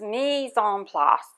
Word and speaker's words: mise en place: And there's a French word for it, and I learned how to pronounce it today on YouTube. It's mise en place, and it means everything in its place.